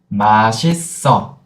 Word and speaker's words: 맛있어: 맛있어. Yeah, empty circle, you can kind of push the final consonant, right?